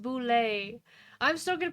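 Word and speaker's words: Bulette: So, also it says apparently it's pronounced boule. I'm still gonna pronounce it bullet because boule.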